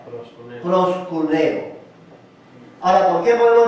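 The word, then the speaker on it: προσκυνέω: En en español sería una P, una R, una O, una S, una K, una U, una N, una E y una O. Se pronunciaría proscuneo proscuneo.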